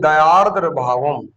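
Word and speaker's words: दयार्द्रभावम्: दया धन आरद्र भावम लोग इस शब्द का खूब अशुद्ध उच्चारण करते हैं। आज हम इसको कैसे पढ़ते हैं? आप चाहे तो शुद्ध उच्चारण सीख सकते हैं। दया आरद्र भाव यानी दयाद्र भावम यहां म हम हमने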